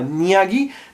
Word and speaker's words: Nagui: paroles, non, non, non, Nagui, ça s'écrit avec un G devant, donc on pourrait prononcer ça Niaghi, d'ailleurs, il ne dit